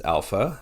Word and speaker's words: alpha: as we mentioned already the first letter of the alphabet is Alpha which sounds like the word a in Father the second letter is